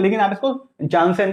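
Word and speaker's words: Janssen: ठीक है, अब ये मतलब जो भी प्रोनाउंसिएशन हो इसका, इसको यानसेन बोलते हैं। ठीक है, लेकिन आप इसको जानसेन के तौर पे याद रखो, क्योंकि आपको याद रहेगा अच्छे तरीके से।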